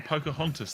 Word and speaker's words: Pocahontas: I don't know if that's how you pronounce it, but that sounds... No, it's definitely Pocahontas. Yeah, that's all right.